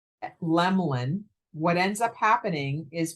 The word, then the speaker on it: Lemelin: spell it wrong so with the e in the middle of the name they say one of two things they say lemelon or they say lemon the name is spelled sounded Lem Lin So for anybody who